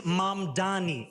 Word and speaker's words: Mamdani: And furthermore, the name is Mamdani, M-A-M-D-A-N-I.